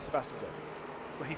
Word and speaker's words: Sebastian Job: Because obviously it's just J-O-B, and so a lot of people are just like, well, surely it's Sebastian Job. You're saying his name wrong, Sebastian Job. I'm like, he says Sebastian Job.